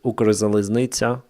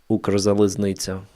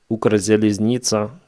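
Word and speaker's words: Укрзалізниця: So Russians will never say it properly. Ukrzaliznytsa. You have this ts, I, at the wrong points of the word from the Russian perspective. So they will have Ukrzaliznytsa, something like that.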